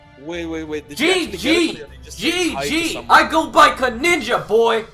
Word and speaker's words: Conninja: Yeah, that's not how you say Conninja. It's not Corninja. Conninja. Yeah, Corninja. That's what I'm saying. It's Conninja. Yes, Corninja. No, it's not Corninja. Stop.